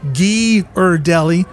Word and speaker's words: Ghirardelli: Ghirardelli.